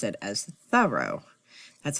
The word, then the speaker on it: Thoreau: We always say Henry David Thoreau. But I was up visiting Louisa May Alcott's place, Orchard House, and the tour guide helped me pronounce it as Thoreau.